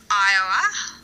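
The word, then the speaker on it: 'Eua: really hard to pronounce the spelling is e-u-a and it's sort of pronounced iowa like it's i have no idea if i'm even getting that um correct but that's the that's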